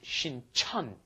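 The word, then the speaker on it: 신천: One is Shincheon, one is Shinchon. Yes. The one by Yonsei University is Shinchon, and the one by Jamsil down south, that is Shincheon.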